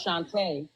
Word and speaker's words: Shanta: Is it pronounced Shanta or? No, it's Shanta. Shanta.